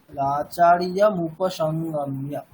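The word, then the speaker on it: आचार्यमुपसङ्गम्य: সন্ধি বিচ্ছেদ করে দিই, আচার্যম উপসংগম্য এরকম উচ্চারণ করি। মানে আচার্যম এটাকে আলাদা করে দিই, উপসংগম্য এটাকে আলাদা করে দিই, ওরকম উচ্চারণ করা যাবে না, একসাথেই করতে হবে। আচার্যম উপসংগম্য।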